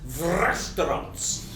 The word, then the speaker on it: VR restaurants: VR restaurants, pronounced vrestaurants, will include a full range of gourmet vegetable dishes, as well as forbidden carnivore classics.